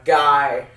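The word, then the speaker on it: गाय: Guy, which is spelled Gaay, but it's pronounced like a guy in English.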